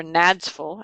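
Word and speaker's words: NADSFL: The National Association of District Supervisors of Foreign Languages, or NADSFul, as the acronym is pronounced, has their annual meeting in Washington, D.C.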